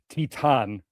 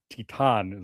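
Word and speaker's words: Titane: And then it's funny because Titan Titan is apparently the pronun I looked it up. That's apparently the pronunciation of it.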